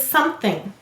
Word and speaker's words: something: All right, the first syllable is som. Silent final E. The second syllable is thing.